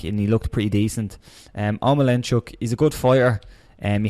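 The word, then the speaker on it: Omielańczuk: Omelanchuk. That's exactly how you say it.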